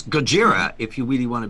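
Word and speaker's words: Gojira: name be pronounced no actually actually it's gajira if you really want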